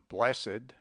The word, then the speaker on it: blessed: In some cases, as for instance, in aged, blessed, cursed, winged used as adjectives, the E must by no means be suppressed.